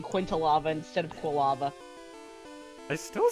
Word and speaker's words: Quilava: But Quintilava and Trisplosion isn't. It's Typhlosion and Quilava.